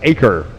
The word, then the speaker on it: Eaker: Robert Eaker out of Hemby, Indiana, 67 long roof racer, the Nova custom two-door. Pronounced Aker. Robert Aker.